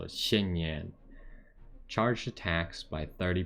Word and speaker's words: Xinyan: say her name right it's got to be xin yen i just i don't speak chinese so it's hard to pronounce those x's correctly but it's kind of like only you keep your tongue on the bottom of your mouth so xin yin charge the tax by